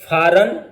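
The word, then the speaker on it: foreign: जैसे फॉरन, जी लिखा जाएगा, पढ़ा नहीं जाएगा।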